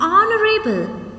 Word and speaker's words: honorable: When we are pronouncing these words, in these words H is silent. So because of that, we are pronouncing these words with the vowel sound.